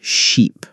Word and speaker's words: sheep: First, let's work on ship and sheep. Ship, short I sound, ship. Sheep, long E sound, sheep.